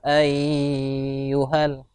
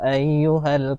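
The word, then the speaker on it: يَا أَيُّهَا: baru dinamakan Idam Nah tadi membacanya Dafina itu terbacanya panjang Jadi dibacanya Ya ayuhalah itu salah ya diperbaiki nanti bacaannya jadi bacaannya ya ayyuhal Kafirun seperti itu ya anunya untuk aynya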